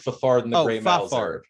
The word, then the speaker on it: Fafard: I promised uh Leo far far far so far pronounced like fafard yeah well take out